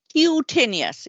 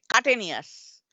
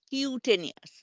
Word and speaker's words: cutaneous: cat but skin but when you pronounce it we do the cutaneous it doesn't get cutanous this is cutaneous this is the pronunciation San means blue cyanotic